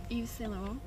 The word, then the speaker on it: Yves Saint Laurent: Yves Saint Laurent. Very good pronunciation.